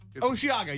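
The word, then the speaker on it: Osheaga: forgot what it is how you say this Oshiaga I see Oshiaga Oshiaga or Oshiago Oshiaga I thought it is Oshiaga you're right oh thank you I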